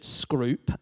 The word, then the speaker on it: Scrope: they did there was a guy called Richard scroo um spelled scrope but pronounced scrw he was the first Baron of Bolton and